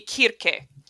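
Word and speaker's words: Circe: guys different circles yeah in greek the pronunciation would be kirke okay i'm learning something new because it was it was a kappa not a sigma but we but in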